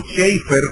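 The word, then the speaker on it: Chafer: De hecho, Lewis Sperry Chaffer o Shafer, como se debe pronunciar en inglés, que es uno de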